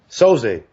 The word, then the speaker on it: Soze: Soze, am I pronouncing that right? Soze.